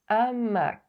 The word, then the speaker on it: hamac: This apostrophe indicates an aspirated H. Both links are in the description. En haut, un hamac.